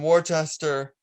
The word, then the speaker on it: Worcester: She had a match with Anthony Green in Worcester, Mass. I can never pronounce the name of that city.